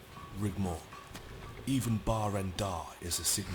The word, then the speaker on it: Rigmor: clown he's a jestica it's pronounced rig more even rendar is a